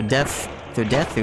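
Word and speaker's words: です: Okay, so desu is technically, it's death, just death. But ends with, like, the character with you know, the, what is it, syllable su or whatever. But sometimes su doesn't have the oo, it's just, you know?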